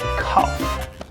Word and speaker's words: cough: Cough. Cough. What the fuck is that? Yeah, cough. No, that's pronounced though.